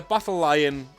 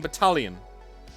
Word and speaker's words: battalion: So by the battle lion, did you mean battalion? Ooh, that's how you pronounce the word.